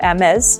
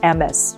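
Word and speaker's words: Hermès: The reason this is not pronounced M, but rather Hermes, is because on top of the E, there's a little accent. And so that means you pronounce the S, Hermes.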